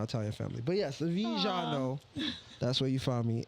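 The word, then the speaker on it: Vejano: Vijano. Yeah, Vijano. Vijano. Yep, exactly. You're right. You gotta say it with accent.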